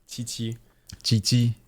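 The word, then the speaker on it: Qiqi: exact thing twice yep Chi chii but it's like the with a like a t mhm not like a t like a very thin CH that said instead of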